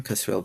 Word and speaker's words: Kasriel: So I have a Psychology Today um under my name, Kasriel. My email address is I'll spell it out but